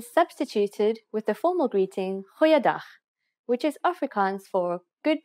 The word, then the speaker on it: Goeiedag: G, try pronouncing it from the back of your throat. Goeiedag, goeiedag, ek is Anne-Marie Luck.